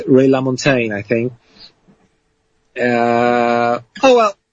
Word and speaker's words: LaMontagne: so yeah well Ray LaMontagne you had to teach me how to say his name did you like it right yeah it's French so uh I mean he's he's not French but the the name is French and uh yeah it's